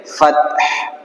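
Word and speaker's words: الفتح: সাকিন হলে এটা কি হবে? ফাতহ। শুনতে পাচ্ছেন আপনারা? ফাতহ এভাবে একটা আওয়াজ বাইর হবে, ঠিক আছে?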